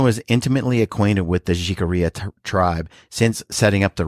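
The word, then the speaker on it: Jicarilla: So if you're American, you say Jarella. Jarella. But if you're uh you say it right, is jigaria. Jikaria. Jikaria.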